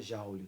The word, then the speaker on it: joule: muito comum também é o jaule se escreve Júlio Neto Ó mas se fala Jauli tá e o símbolo